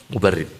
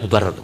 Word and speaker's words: Mubarid: Ngaji pada mubarid bacanya tidak mubarad. Mubarid bukan mubarad tapi apa? Mubarid.